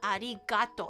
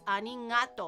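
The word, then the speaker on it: arigatō: native speaker something about the word Arigato with like the r the sounds like a you know an l and R and the g is on a hard G it's not Arigato it's arato or something like that it's like a sound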